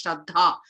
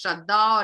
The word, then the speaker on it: Śraddhā: So Śraddhā has to be pronounced as Śraddhā. It cannot be pronounced as Śraddhā or anything else.